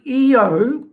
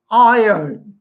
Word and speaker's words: Io: Center that one and you'll notice I did not say IO now the reason for that is because it the satellites of Jupiter are named after the lovers of Jupiter in mythology particularly Greek mythology um and in the Greek there is no long I sound it is a short uh e sound so it is EO not IO so all of these